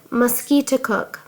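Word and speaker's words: Musketaquid: name of conquered river he pronounced it mosquito cook emphasizing the second syllable with a peculiar guttural sound and said that it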